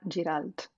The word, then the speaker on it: Giralt: I might mess this up, but um, Giralt. Did I say it wrong? Perfect. Giralt. Yes, perfect.